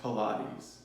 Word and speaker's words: Pilates: so sorry I'm late this is my first plates class it's pronounced Pilates hi beauties is your